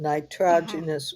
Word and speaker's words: nitrogenous: nitrogenous waste. I maybe pronounced it wrong.